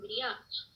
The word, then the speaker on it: griot: Um griote. Considerados muito sábios na África, os griotes, pronunciam-se griot, são chamados de contadores de história.